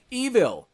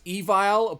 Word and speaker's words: Evile: I always kind of pronounce as Evile, but that's probably not really what it's supposed to actually, at least how it's supposed to be said. It's pronounced Evil, but again, they added an E at the end, because I guess it would just be more cooler that way. So, that's the way I guess it's supposed to be pronounced.